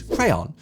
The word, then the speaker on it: crayon: So, this is a word with many different regional pronunciations within the USA itself. In the UK, however, the most dominant pronunciation is crayon.